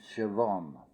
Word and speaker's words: Siobhan: is the woman's name Siobhan now it's a very strange spelling considering how it is pronounced it's s-i-o-b-h-a-n but the B and the h sounds like a V this comes from the